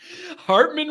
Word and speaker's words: Hartman: Hartman rhymes with Bartman.